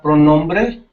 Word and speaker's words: pronombre: Oh, ¿cómo se pronuncia pronombre?